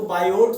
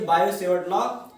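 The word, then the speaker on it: Biot–Savart law: English में बायो को बायोट सेवर्ट लॉ कहते हैं। बायोट बायोट में टी साइलेंट रहता है, इसलिए बायो सेवर्ट लॉ पढ़ा जाता है।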